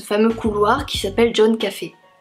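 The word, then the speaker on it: Coffey: Un jour, il y a un détenu qui arrive dans ce fameux couloir qui s'appelle John Café. Comme le café, mais ça s'écrit pas pareil.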